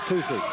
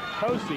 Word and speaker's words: Tosi: Here's Tucci. Tosi. He asked me. He pronounced it right.